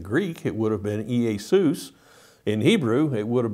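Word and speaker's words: Ἰησοῦς: We understand how the name Jesus was not originally pronounced like we pronounce it in English. In Greek, it would have been Iesus.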